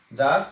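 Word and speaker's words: czar: তাহলে জার থেকে জারি না, এটা কিন্তু সি উচ্চারণ হবে না, ঠিক আছে।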